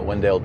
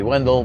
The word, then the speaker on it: Wendell: the local uh uh wendale uh police when I first started coming down I used to say Wendell but they get you know the locals say no it's wendale so Wendell wendale you